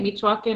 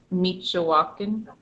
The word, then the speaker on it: Meechawakin: Oh, on Meechwakin, I realized I'm not sure, is it how I'm saying it, Meechwakin, or is there an extra syllable like Meechawakin?